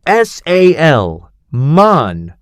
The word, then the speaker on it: salmon: I had read the word salmon in textbooks for 5 years, but I had never realized that the l is completely silent.